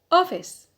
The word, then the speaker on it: office: b number six office office so stress on the penalty because we have a short vowel so it's rule two